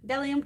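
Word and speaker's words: Bdellium: Delium Tools. The B is silent.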